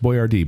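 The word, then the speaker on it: Boiardi: a Tor B oi a r di it's pronounced boy Rd but he actually changed the spelling to boy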